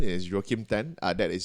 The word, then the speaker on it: Joachim Then: With my name is Joachim Tan. That is spelled as JOACHIMTHEN.